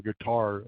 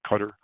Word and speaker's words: Qatar: And that guy, he just got an order for 30 airplanes from Qatar yesterday, I think, Qatar. I pronounce both ways.